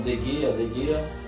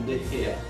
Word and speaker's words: De Gea: Meus amigos, eu sei, muitas pessoas falam De Gea, mas para o espanhol talvez a pronúncia mais adequada seja o De Gea.